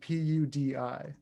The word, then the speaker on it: Pudi: Danny and then Pudi. Like pudding.